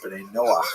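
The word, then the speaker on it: Bnei Noach: And this is basically a Hebrew term, Ben Noah for or Ben Noah is the way Jews would pronounce it. Uh, that refers to all humanity. meaning there are Jews and there is Beno, the children of Noah.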